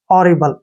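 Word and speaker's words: horrible: लेंगे बी एल ई बी का उच्चारण हम ब करते हैं एल का उच्चारण ल करते हैं ई का उच्चारण हम नहीं करते हैं हॉरिबल ऐसे हॉरिबल हॉरिबल क्या होता है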